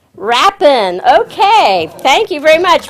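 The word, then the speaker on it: Rapin: And for our Randy, R-A-P-I-N, how do you pronounce that, Randy? Rappin. W in front of it, you'll never get it wrong. Rappin.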